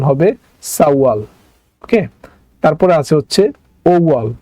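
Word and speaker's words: 사월: ওকে, আচ্ছা তারপর যেটা আছে এটাও কোনো উচ্চারণ পরিবর্তন হবে না, কারণ এটার নিচে বাচ্চিম নাই, এটা যা আছে তাই উচ্চারণ হবে সাওয়াল।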